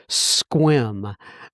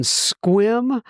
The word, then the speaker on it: Sequim: in Sequim. Oh, it says this is how it's pronounced. Sequim, Washington, pronounce Squim. 2/10/22. I'm assuming that's the sobriety day. Well, Travis L. out there in Squim, Washington, God bless you.